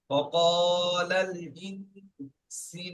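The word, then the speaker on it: وَقَالَ الْإِنسَانُ: জবর লাল, ওয়া ক্বালাল, হামজা নুন জের ইন, ওয়া ক্বালাল ইন, সিন আলিফ জবর সা, ওয়া ক্বালাল ইনসান। একটা করে বানান করবেন, ফের গোড়া থেকে পড়ে আসবেন, বুঝতে পেরেছেন?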